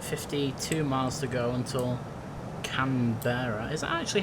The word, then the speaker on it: Canberra: 52 miles to go until Canberra. Is that actually how you pronounce it? Camber.